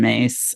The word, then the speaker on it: Myss: it's car for anybody that doesn't know Carolyn mace it's um her last name is spelled very differently than it sounds it's m